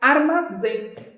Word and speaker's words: armazém: Qual é a sílaba mais forte? Zen. Sílaba mais forte é o zen, está na última, não está?